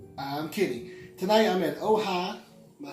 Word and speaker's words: Ojai: It's not like Ojai. It's Ojai. Ojai. Ojai. Just like on the hat.